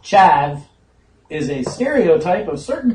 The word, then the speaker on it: chav: According to Wikipedia, a chav, pronounced chav, is a stereotype of certain people in the United Kingdom, also known as a charver in Yorkshire and the northeast England.